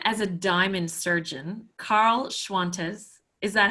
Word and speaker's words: Schwantes: Known as a diamond surgeon, Karl Schwantes. Is that how you say it, Karl? Yep, just like Qantas, but with an SCH sound. A very good Aussie. Karl Schwantes, not Qantas, is an